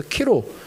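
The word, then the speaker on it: Chi-Rho: 거기에 쓰여 있다든지 설교단 앞에 강대상이 그렇게 쓰여 있다든지 본 건데 이게 이제 요 X라는 게 헬라어로 키라고 읽고요. P가 이제 헬라어로 로라고 읽어서 키로 십자가인데 콘스탄티누스 황제가 꿈에서 이걸 봤다 그러잖아요.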